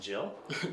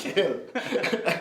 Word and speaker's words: Gill: Is it Jill? No, it's Gill. Everybody pronounces Jill, but Gill is right.